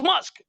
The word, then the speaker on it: Musk: and i was like it's not moose it's musk how many people's how